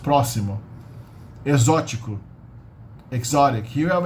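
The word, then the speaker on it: próximo: in the middle but it's not pronounced as proximo it's pronounced it's pronounced prossimo foreign exotic here we have a TI in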